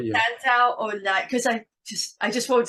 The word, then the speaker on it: Santaolalla: The way you do it, it's Santa Olaya. Santa Olaya. Okay. Yeah, that's the way. Yeah. Santa Olaya, because I just won't